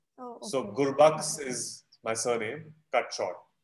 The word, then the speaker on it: Gurbaks: So So you can say Gurbaks or you can say Gurbaks. So I say Gurbaks because my full name is Gurbaksani. Oh, okay. So Gurbaks is my surname, cut short.